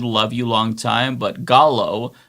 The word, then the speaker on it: Gallo: David, love you long time, but Gallo, you don't get a Canadian pass for that poor pronunciation. Oh, the Pico de Gallo.